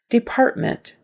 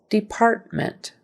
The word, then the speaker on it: Department: one the first syllable Department Department syllable stresses on the second syllable Department Department and again let